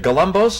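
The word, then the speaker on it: Galambos: Is it Galumbos? Is that how you pronounce it about?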